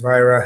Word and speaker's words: Vajra: and better uh the vira family's been uh and that's v-a-j-r-a but pronounced vira has been um forming